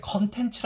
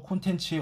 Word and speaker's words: 콘텐츠: 이상 법 디지털콘텐츠 그쳐 이거 콘텐츠 헷갈려 하시는 분들이 많더라고요 유튜브 면 썸네일을 컨텐츠 야근을 많이 쓰더라구요 근데 이게 올바른 발음은 요 콘텐츠입니다 이 시험이 2006년도에 시행되었던 문제거든요 즉시 몇 년 전부터 콘텐츠의 올바른 국어 표기법은 콘텐츠 였다는 거죠 그래서 많은 사람들이 다